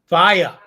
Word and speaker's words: FIYAH: Faya, absolutely. FIYAH exclamation point is how you spell it.